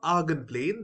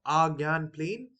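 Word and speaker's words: Argand: now about argon plane this is pronounced as argonplane or Argan plane so it's up to you uh it depends on um you know whichever pronunciation you use so I'll be using argon plane and now we will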